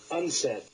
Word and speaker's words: UNCED: for Environment and development it is pronounced unsaid Maurice strong has suggested